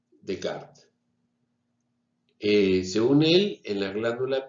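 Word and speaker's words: Descartes: la filosofía vimos que rené de kart se escribe de carnés en francés se dice de carne es a quien se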